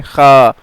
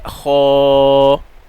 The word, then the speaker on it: خ: کرتے ہیں۔ خو، خا، اس طرح اکثر لوگ پڑھتے ہیں، خا، خا خے یہ رونگ ہے، ٹھیک ہے. عربی لہجے میں ہم پڑھیں گے، عربی ایکسنٹ میں یہ ہے خو خو.